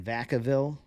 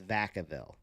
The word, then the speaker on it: Vacaville: got the family in Vacaville you guys were telling me it was Vacaville but she said no it's Vacaville don't let them fool